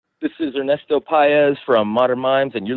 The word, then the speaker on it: Paez: Ernesto piya's and I hope I pronounce his last name correct he is the